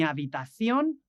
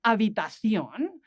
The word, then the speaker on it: habitación: The next word, habitación, we have that word spelled with an H that doesn't really sound because the H is soundless, and then at the end, the O has an accent.